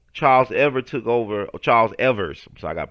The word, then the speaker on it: Evers: own you know charles ever took over charles evers so i got pronounced that s charles evers took took over